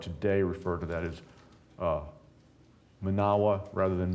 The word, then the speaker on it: Menawa: So I will probably, for the most part today, refer to that as Manawa rather than Menawa. Menawa is the common pronunciation that we hear here.